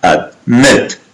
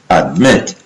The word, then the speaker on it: admit: Fifth, in most two-syllable verbs, the end consonant is doubled if the stress is on the second syllable, like prefer, prefer, preferred, admit, admit, admitted.